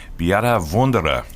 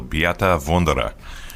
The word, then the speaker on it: Beate Wunderer: And today we have a very special guest, Beate Wunderer. Did I pronounce that correctly, Beate?